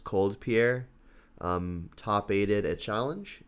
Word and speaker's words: COLDPIER: very recently this player i believe it's pronounced cold pierre um top aided a